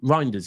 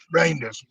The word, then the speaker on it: Reijnders: Um I tell you what, people can you have we had the announcement of Rinders yet? Reinders. Um I got sent some by Pat earlier, right? And it's Reinders saying how to pronounce his name.